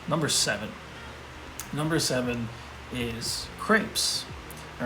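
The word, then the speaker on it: crêpe: call them yeah but crepe is how you say crepes in french and it's another one of those you gotta put emphasis on the r right so crepe so there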